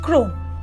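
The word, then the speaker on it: crosnes: দেখেননি number ten ক্রসনেস pronounced ক্রোম যখন আপনি এই সবজিটিকে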